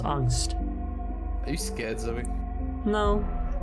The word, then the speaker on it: angst: And it's pronounced angst.